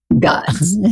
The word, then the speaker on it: Gozdz: I want to thank you, Gozdz. Gozdz? Gozdz. It's not an easy name to pronounce.